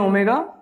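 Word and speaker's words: omega: ठीक है, इसको हम प्रोनाउंस करते हैं ओमेगा।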